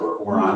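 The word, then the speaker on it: Οὐρανός: energy of sky the uranus is the sky god in greek or on this is the proper greek pronunciation and taurus is earth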